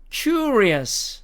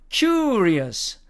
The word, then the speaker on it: curious: 자, 안 붙이는 경우입니다. curious 붙이는 경우입니다. curious. 자, 그런데 영국식 발음으로 가면 이 길게 하는 부분이 어로 변합니다. 그래서 curious 이렇게 발음이 된다는 얘기입니다.